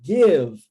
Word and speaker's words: give: Give, ó, preste atenção aqui, primeira dica para você, em pronúncia, letra I, seguindo o padrão linguístico do inglês, onde nós temos a pronúncia do I como E. Give, ok? Not give, give. Percebeu?